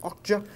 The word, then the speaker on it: Okja: I believe that's how you pronounce it, Okja.